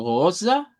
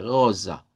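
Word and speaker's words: rosa: Eh, luego tenemos goza, en donde debemos hacer sonar la eri ugular y la s vibrante goza.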